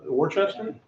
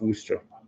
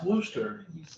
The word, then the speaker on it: Worcester: i i think uh warchester well that's how it looks like it's kind of pronounced but that's how it looks that's how it's spelled but it's pronounced wooster i don't think so